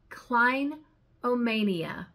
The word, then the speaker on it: clinomania: The seventh most beautiful word in the dictionary is a noun, and it is pronounced clinomania.